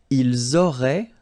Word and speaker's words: auraient: Vous auriez, little link between the two, vous auriez, and then ils auraient, little link, but then look, A-I-E-N-T like that, and you only pronounce E, like we had here.